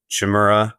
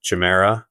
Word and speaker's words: Chimera: Their engine's called the Chimera, Chimera, depending on your your pronunciation.